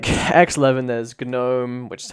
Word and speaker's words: GNOME: So there's like X11, there's Gnome, which is how it's actually pronounced, and there's Wayland.